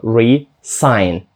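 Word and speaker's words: re-sign: resign друге по-перше і звучить більш м'яко а не reре а далі S звучить зчить як S тобто resign перше resign друге resign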